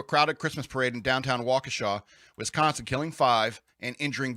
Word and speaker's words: Waukesha: waukesha uh what's uh matt walsh calls it wakasha i think he knows he's pronouncing it wrong waukesha locals describe the chaotic